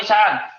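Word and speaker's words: عشاءً: Asya'an atau isya'an? Isya'an. Ya, isya'an ya. Kalau isya'an, waktu isya. Kalau asya'an, apa artinya? Asya'an. Asya'an itu sama dengan makanan yang dimakan waktu isya, itu namanya asya'.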